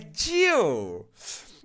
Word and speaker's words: gel: A pronúncia em inglês de gel é Jill.